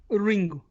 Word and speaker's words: Ringu: my film Ringu.